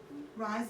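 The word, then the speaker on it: Reye: because of this thing called rise syndrome it looks like raised syndrome and sometimes you pronounce it that way um there's something about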